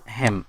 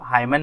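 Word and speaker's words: hymn: देखिए, this हिम, यहाँ पे हिम का मतलब है भजन या कीर्तन। ये एन क्या है, साइलेंट है, इसलिए इसको हाइमन नहीं पढ़ेंगे, हिम पढ़ेंगे।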